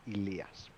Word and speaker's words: Elias: In Greek, that would be pronounced Elias. Elias, okay. Well, It's the same name. It's what you would call Eli or Elias in English, but that's the Greek pronunciation.